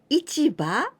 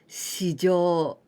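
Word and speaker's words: 市場: There are two ways of pronunciation with this kanji, ichiba or shijo.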